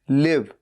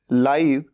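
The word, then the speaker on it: live: आईवी ई लिव रहना एल आईवी ई लाइव जो इस वक्त हो रहा हो जैसे मान लीजिए कोई क्रिकेट मैच चल रहा है तो लाइव चल रहा है भले ही इसकी स्पेलिंग भी सेम है लेकिन बोलने का तरीका अलग है लाइव एल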